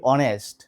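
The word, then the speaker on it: honest: তাহলে এটার উচ্চারণ হবে অনেস্ট, এটার উচ্চারণ হবে আওয়ার। একই রকমভাবে অনারেবল। আশা করি বুঝতে পেরেছো। অর্থাৎ যদি ফার্স্ট লেটার সাইলেন্ট থাকে, উচ্চারণ যদি উচ্চারণ না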